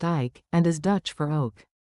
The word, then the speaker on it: Eyck: after him, the name of Ike, which is pronounced Ike, and is Dutch for oak.